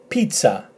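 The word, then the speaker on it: πίτσα: e, p, and then t, and then a, pizza, pizza, which is obviously, I don't need to say where it is, it's pizza.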